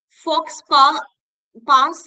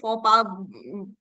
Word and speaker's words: faux pas: Fox pass is the word, but ऐसे नहीं pronounce करते हैं X को नहीं pronounce करते faux pas जो भी बोलते but fox pass okay